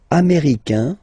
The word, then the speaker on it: américain: Okay, so les États-Unis, américain.